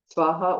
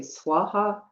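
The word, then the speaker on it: स्वाहा: So it does say Svaha, the last syllable, you can pronounce it Svaha or Soha. Tibetans don't have a V in their etymology, so they usually say Soha, or some say Swaha. All of them are fine.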